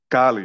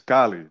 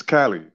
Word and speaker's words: Cali: your language so and of course in spanish kali is kali because of the the way that a is pronounced us right in the united states you know it's cali you know like california like that's that's that's